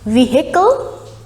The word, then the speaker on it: vehicle: we pronounce it vehicle vehicle now here the h sound is dropped and the right pronunciation